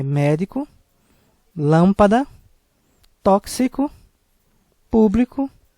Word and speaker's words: tóxico: Tóxico é uma palavra com 3 sílabas, sendo que a sílaba mais forte é a antepenúltima, por isso deverá ser acentuado com acento agudo por ter uma sílaba tônica com som aberto.